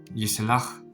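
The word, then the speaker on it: יסלח: Entonces aquí se pronuncia esta palabra como yislach, que significa él perdonará. Y si lo acompañamos con el pronombre hu, que significa él, entonces sonaría como hu yislach, es decir, él perdonará.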